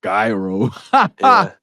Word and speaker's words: gyro: I ordered before that that Greek uh gonna mispronounce it gonna hate me the gyro you just deeply offended hybrid I had a I